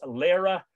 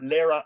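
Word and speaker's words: Laoghaire: fire was lit and the answer is Lara or Lyra McNiel Lara the son of Nile Lara is spelled l-a-o-g-h-a-i-r-e again you can give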